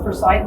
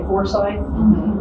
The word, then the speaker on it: Forsyth: I think he's just one of, and I pronounce it Forsyth because I've been told that's how the family pronounces it. A lot of people say Forsyth, but I've been told by the.